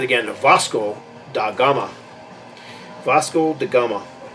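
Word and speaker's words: Vasco da Gama: never knew existed you know yes that's that's pronounced it again to fosco da Gama Vasco de Gama it's hard to even read it here it's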